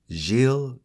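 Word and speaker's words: Gilles: this hermit in question Jil Garnier and that's spelled g i l l s and again I did look up that pronunciation because I thought it was gz but it's according to far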